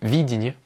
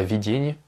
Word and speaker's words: видение: D'ailleurs, c'est видение, pas видение, je l'ai mal prononcé, excusez-moi.